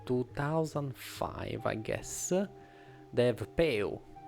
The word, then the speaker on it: peu: So Peu is the French for less. Less. It's peu.